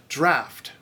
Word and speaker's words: draught: The next bunch were originally spelled as they were said and vice versa, but English pronunciation shifted away from the spelling. So, draught, draft, waistcoat, waistcoat, boatswain, bosun, victuals, victuals, Worcester, Worcester, Greenwich, Greenwich.